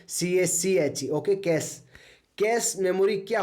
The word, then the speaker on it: cache: कोई इसको कैसे बोल सकते हैं इसके अलग-अलग प्रोनाउंस बोलते हैं कैश okay कैश कैश memory क्या होती है ठीक